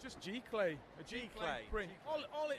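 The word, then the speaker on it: giclée: I can never pronounce how you say it. It's just G-clay.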